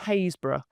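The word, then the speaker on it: Happisburgh: It's Hazesborough which isn't spelled Hayesbor because of English spelling of things.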